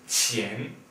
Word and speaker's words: 钱: This character here is pronounced 钱, and it means money.